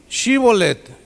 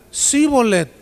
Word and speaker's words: Shibolet: Si él respondía, no, entonces le decían, ahora pues di Shibolet. Y él decía, Sibolet, porque no podía pronunciarlo correctamente.